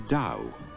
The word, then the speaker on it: Tao: but what is the dow in western spelling its ta o though it's pronounced Dow I've seen it translated